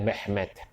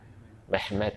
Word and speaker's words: Mehmed: ya itu maksudnya begitu orang Turki bilang mehmed mehmed Muhammad jadi apa namanya mehmed ya sama itu hanya pelafalan karena artinya sama nah